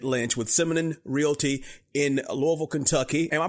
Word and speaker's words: Louisville: So now we're talking to David Lynch with Simonon Realty in Louisville, Kentucky. Am I pronouncing it right, David? Louisville?